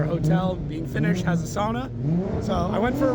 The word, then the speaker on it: sauna: We call it sauna in North America, but I've been told it's pronounced sauna.